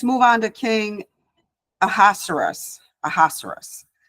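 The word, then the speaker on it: Ahasuerus: on to King aerus aerus I I listen to the pronunciation many times and that's what they say aerus but I'll probably mess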